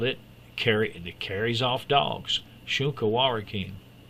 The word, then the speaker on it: Shunka Warakin: And they called it carries off dogs, Shunka Warakin. Shunka Warakin. Well, there's how it's spelled right there.